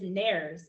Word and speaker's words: nares: The name that we give these two holes is nares. It's helpful to know that the world rhymes with fairies.